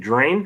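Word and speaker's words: Draine: let's get Chris Abrams is it drain that's how you say it yeah let's do that Miami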